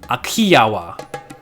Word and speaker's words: Ahhiyawa: hittite texts to a land called aji yahwah which can also be pronounced a Kiowa forever believed that this